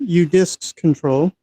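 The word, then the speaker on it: udisksctl: command u d i k sctl I've been pronouncing it udisks control and you'll see I've got two terminals up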